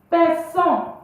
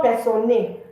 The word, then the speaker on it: personne: It's not personne. The E at the end is not pronounced. So je ne regarde personne.